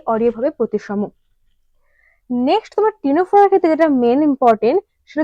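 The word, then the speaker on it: Ctenophora: Next আছে তোমার টিনোফোরা। টিনোফোরা জিনিসটা কি? আচ্ছা, টিনোফোরা ইংলিশ টার্মটা দেখো আগে কিন্তু সি রয়েছে, যেমন নিউমোনিয়া ক্ষেত্রে উচ্চারণটা হয়ে থাকে, তেমন টিনোফোরার ক্ষেত্রেও আগে কিন্তু তোমার সি রয়েছে, এটা কিন্তু একটু খেয়াল করবে।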